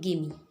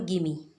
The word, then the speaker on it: gimme: ठीक, गिव मी को हम इस तरह लिखते हैं और इसे प्रोनाउंस करते हैं गिमी। गिव मी को कहते हैं हम गिमी।